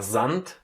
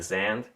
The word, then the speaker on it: Sand: But this one, again, because it's in the very end, it loses its softness again and becomes a hard, similar to T, or actually the same. So T, Sand. You don't stress here Sand. You say Sand.